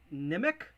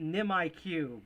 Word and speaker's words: Nimiq: grin Raven coin and I think it's pronounced nimic I call it nimiq but nimic uh cool you have